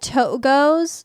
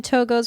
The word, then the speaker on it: Togo's: My coworkers and I pronounce it Togos. Togos. But it's like two goes.